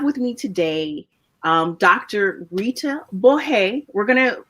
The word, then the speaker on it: Borret: Rita Borret. She said it's okay to pronounce it the French way because it has French origins.